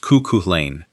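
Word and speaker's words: kuchaleyn: Boarding houses became kookalanes, a Yiddish word pronounced kookuhlain, meaning cook it yourself.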